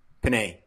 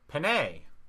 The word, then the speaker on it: Panei: Panei. Panei. Panei, yep. Like the pasta? Like the pasta, yeah. Yep. Just spelled different. Yeah, but you must get that all the time.